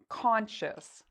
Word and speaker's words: conscious: If there's a C, a T, or an X, we pronounce it like shus. If it's a different letter, we pronounce it like ious.